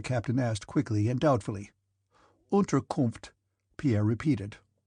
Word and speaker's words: Unterkunft: "Unterkunft," Pierre repeated. "Unterkopf," said the captain, and looked at Pierre for some seconds with laughing eyes.